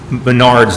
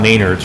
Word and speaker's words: Menards: Yeah, and I have one more thing, and besides correcting myself that it's Menards, not Maynards, right? I say it wrong.